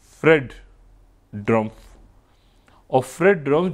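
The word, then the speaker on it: Drumpf: ड्रमफ यानी ट्र टी से नहीं डी से अब उसको जैसे भी आप प्रोनाउंस करना चाहे लेकिन ड्रमफ सही। ठीक है ना? यानी डी आर यू एम पी एफ सही।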